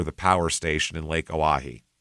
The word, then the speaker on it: Oahe: The tight 10 days at the Oahe, Oahe is how you pronounce that, O-A-H-E, Oahe, the Oahe Dam Emergency Spillway.